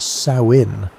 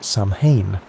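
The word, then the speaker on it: Samhain: Samine was a festival that people pronounced sin like the female pig, not Samanne, which is what most people think.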